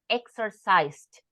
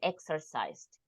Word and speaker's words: exercised: good Pro pronunciation okay just a couple of words exercised with T at the end and watched watched and exercised okay but you did